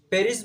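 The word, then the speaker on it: Paris: প্যারিস হচ্ছে ফ্রান্সের রাজধানী এবং একে ওদের ভাষায় পেরি বলা হয়। যদিও আমরা ইংরেজিতে প্যারিস বলি, কিন্তু ওরা ফ্রান্সের ভাষায় একে পেরি বলে।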